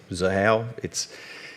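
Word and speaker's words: Xahau: I understand it's a hard word to pronounce when you look at it. Zahao, it's a thing that names have got X's in this space.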